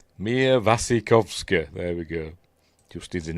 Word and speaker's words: Mia Wasikowska: We are looking at how to pronounce Mia Wasikowska. Right. Mia Wasikowska.